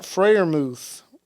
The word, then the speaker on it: Freiermuth: Connor Hayward had 2 receptions, 23 yards and a touchdowns, and Pat Freiermuth, that's how you say it, apparently. He had That's how you 3 for pronounce it?